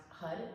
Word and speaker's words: har: way here today, and it's spelled H-A-R, but it's pronounced hud because you want the tongue to hit the top of your roof, and what that does